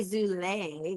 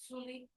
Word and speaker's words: Zuli: Zuli. Zuli. You see, you said or Zule. You said Zul. I I said Zul. Thank you for clarifying. Zuli.